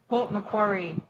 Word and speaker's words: Port Macquarie: I thought it sounded like How do you pronounce it? Port Macquarie. Macquarie. Okay. Yeah, Port Macquarie.